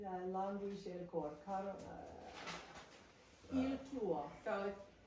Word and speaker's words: tuo: Tuo, mio. It's all the emphasis is on the first part and not the second.